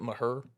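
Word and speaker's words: Mexia: And this one time we were playing in Waco, and this team from, I think it's pronounced Mejia. yeah, man. Mejia. The locals apparently call it Maher.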